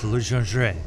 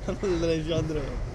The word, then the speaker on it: Legendre: I might have to go with the French, Legendre. Legendre.